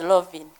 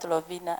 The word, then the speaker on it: Lovin: My name is Lovin Kovsinje, not Lovina as she pronounces it. It is Lovin.